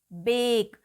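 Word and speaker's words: bake: अब आप देखेंगे इसमें है 2 वॉवल्स ए और ई, तो ये लास्ट वॉवल ई हम प्रोनाउंस नहीं करेंगे, ये साइलेंट रहेगा। ई विल रिमेन साइलेंट हियर। हम केवल पढ़ेंगे बेक, बी ए के, ई इज साइलेंट, बेक।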